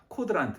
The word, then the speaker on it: 고드란트: 그래서 오늘은 주인과 고드란트, 뭐 혹은 코드란트 이렇게 발음해도 되지만 원래는 K니까 어쨌든 고드란트든 코드란트든 주인과 고드란트입니다.